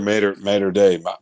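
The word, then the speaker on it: Mater Dei: Just to grow it bigger and bigger and bigger, like your Mater Day. How do you say that? Mater Day. Yeah, Mater Day.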